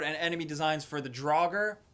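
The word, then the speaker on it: draugr: enemy designs for the draugur is how you say it draugur it's North's mythology zombies that like live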